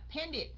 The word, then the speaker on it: painted: Ví dụ như chữ paint thì ending sau mình để ed vô, mình phải phát âm nó thành chữ gì các anh chị? Painter hay là painter hay là painted? Yeah, painted. Okay, tại vì cuối cùng nó là âm t, cuối cùng nó là